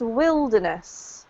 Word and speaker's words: wilderness: But this is pronounced wilderness, okay?